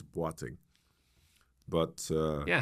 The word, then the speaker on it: Boateng: His name is Oswald Bang. But it's pronounced different. Yeah. I mean, from Ghana, right? Where from region? Yeah. Ghana. And it correct pronunciation is batting.